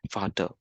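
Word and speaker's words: Vater: the German what we although it is v-a-t-e-r is pronounced as fata old German f-a-t-r fata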